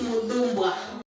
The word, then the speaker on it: Mupamirwa: Esther Mupamirwa is a student at Midlands State University. She's currently studying metallurgical engineering. Did I pronounce it correctly? It's Mupamirwa.